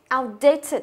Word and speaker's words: outdated: Như vậy nó có tiền tố này, nó có hậu tố này, thì trọng âm nó sẽ rơi vào thành phần chính, chính là từ date.